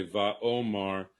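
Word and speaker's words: ויאמר: original text but um the rabbis don't want us to pronounce that like by yo mervy omar they want us to say va omar um and i answered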